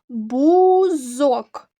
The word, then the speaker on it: бузок: схему до цього слова бузок два склади наголос падає на другий склад три твердих приголосних звука